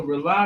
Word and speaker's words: Rauli: That's all we got tonight from the Rely Radio Show. It's called Rely. It's spelled differently, though. It's not R-E-L-Y. It's R-A-U-L-I.